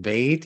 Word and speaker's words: bait: In Hebrew, it's pronounced bet. In Arabic, it's pronounced bait.